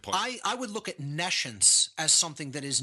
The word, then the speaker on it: nescience: or hear the word nescience. So I'll even spell it for the listening audience. It's Nescience, like N-E and then the word science, meaning no science.